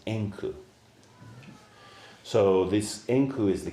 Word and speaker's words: Enku: The Japanese pronunciation of his name is Enku.